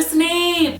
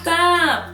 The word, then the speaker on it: Snape: and I'm like the there's an e on the end with Professor Snape not snop oh my God that's